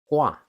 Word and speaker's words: Gua: The tri pronunciation in mandaring is called gua.